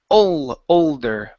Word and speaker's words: older: Okay, pronounce that L. Okay, because when you said this, it sounded like older cousin. It's older. Make your tongue touch the top of your mouth.